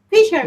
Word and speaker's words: fisherman: good yes next fisherman Felix what about fisherman fisherman what what Fisher fish ah fisherman pcor and that that that word has three syllables and the first syllable is it has